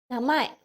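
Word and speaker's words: 名前: So yeah, if you like na, M stands for ma, and then there's an E which is pronounced as A in Japanese.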